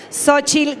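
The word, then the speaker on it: Xóchitl: liderados por una mujer cuyo nombre se escribe con la x de México sochil Gálvez cuán grande Cuán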